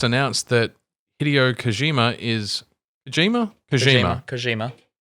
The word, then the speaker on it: Kojima: Kojima. Japanese with a soft J. That's interesting. Usually that's Spanish pronunciation.